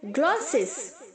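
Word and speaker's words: glow: ग्लॉसिस, glossing. Next है ग्लो. यहाँ पर हम W को साउंड नहीं करेंगे, W को प्रोनाउंस नहीं करेंगे, GLO ही बोलेंगे. ग्लो.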